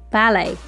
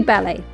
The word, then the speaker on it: ballet: gymnastics of course ballet we pronounce the word in the French way and so you omit the sound of the T to make ballet anyway it's Todo ballet surfing correct to go